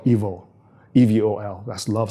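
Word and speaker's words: Evol: movie, which is called Evil, E-V-O-L. That's love spelled backwards. Oh. Yeah, so it's pronounced evil, like E-V-I-L. Yes. But it's love spelled backwards.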